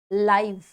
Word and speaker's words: live: अब इसको आप क्या पढ़ोगे? नॉट लिव, लिव नहीं पढ़ोगे, वो दूसरे वाले में आएगा, ठीक है। अभी आप इसको क्या पढ़ोगे? That's लाइव, लाइव, लाइव।